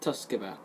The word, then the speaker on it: Tsukuba: IF3C, coming from the Tsukuba circuit. Not Tsukuba, Tsukuba. It's very hard to pronounce, but it's pronounced Tsukuba.